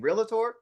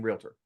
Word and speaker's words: realtor: to are they saying realator or are they saying realtor it's realtor real tour real tour two syllables and then when when